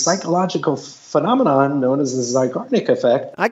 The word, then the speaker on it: Zeigarnik: I think it's pronounced the Zeigarnik effect. You got it. Zeigarnik effect.